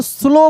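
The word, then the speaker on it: slow: जैसे यहां पर लिखा था एस एल ओ डब्ल्यू तो हम लोग स्लो पढ़ रहे हैं। यानी इसमें डब्ल्यू साइलेंट रहता है।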